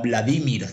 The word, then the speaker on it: Vladimir: ¿Qué pasó, Nicolás Maduro, con el hermano Vladimir, como a ti te encanta decirle, poniéndole el acento en la I, en la primera I?